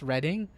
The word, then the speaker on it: Redding: which is i know it's pronounced redding it's actually spelled r-e-d-d-i-n-g just just a little